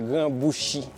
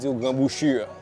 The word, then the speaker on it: Grand Bouchi: donc ça grand bouchi prononcer bien c'est créole grand bouchi donc en français tellement habitué n utiliser son ur et cetera donc dit grand bouchure la son mauvais mélange net comme si